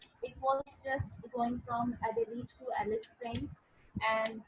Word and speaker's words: Adelaide: Recently, when they just extended the railway track in February 2004, okay, from Adelaide, and it's Adelaide. We pronounce it as Adelaide.